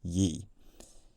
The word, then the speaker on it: ye: accent I've been using here, I've been saying ye. Now, many years ago, on a television series called QI, they corrected an existing misconception, and that misconception was that pseudo-Shakespearean phrases like this should be pronounced ye old shop, whereas in fact, the definite article,